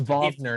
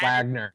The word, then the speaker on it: Wagner: he misspell he uh replaced the W in Wagner with a V because it's vogner not Wagner yeah it's pronounced vogner